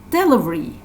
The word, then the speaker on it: delivery: that means shakyas yacuma delivery delivery delivery so the stressed syllable is the second syllable here delivery okay and